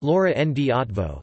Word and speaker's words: Loránd Eötvös: Lauren de Gaston or Lauren B at voz pronounced Laura and D advo the 27th of July 1848 to the 8th